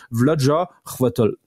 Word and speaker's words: Chvátil: Et puis le til, il est vraiment t il est faut pas faut pas prononcer le i en fait. Donc en fait c'est vjaatol.